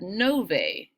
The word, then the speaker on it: novae: your notebook should have novae is how you say that word novae are landforms on